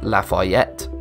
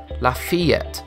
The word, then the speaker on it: Lafayette: However, despite the town being in the USA, it is not pronounced as Lafayette. The problem here, and what most people don't realise, is that the town's name has French origins, and these have proven difficult to pronounce for most of us. The correct pronunciation is Lafayette.